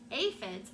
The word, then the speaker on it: aphids: sad day when the aphids pronounced aphids aphids arrived they are some